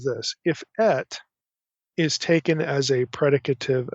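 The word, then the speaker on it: את: It's pronounced et, so it's aleph tav, et.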